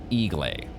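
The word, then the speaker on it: Eiglay: Copilot says that it's pronounced Igle.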